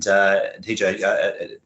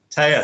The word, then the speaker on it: Taya: And TJ, if I said it right, apologies. Taya, sorry, Taya, I should have got that right.